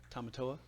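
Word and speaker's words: Tamatoa: Tomatoa.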